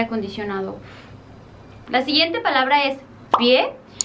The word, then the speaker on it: pie: La siguiente palabra es pie, que en francés no se pronuncia la E del final y sería pi, y es urraca, así